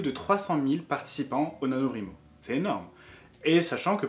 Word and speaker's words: NaNoWriMo: NaNoWriMo, NaNoWriMo, chacun le prononce à sa façon. Moi, je prononce NaNoWriMo parce que le rrr, ça me fait mal à la tête.